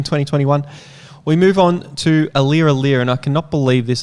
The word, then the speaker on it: Aliir: It will be extremely weird, but the thing that is really exciting about Aliir, sorry, I didn't stutter then, that's actually, that's how you pronounce it, is, again, he's in that bracket,